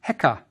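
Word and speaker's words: heka: The crook is pronounced heekka.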